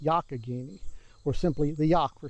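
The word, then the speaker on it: Youghiogheny: looks like it should be yoyoi but it's pronounced yakini or simply the yak for short the yak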